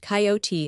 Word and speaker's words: coyote: If I remember rightly, this latter was the regular coyote, pronounced coyote of the farther deserts.